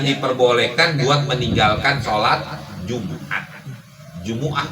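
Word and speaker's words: جمعة: Jumuah bacanya jangan jumah ya.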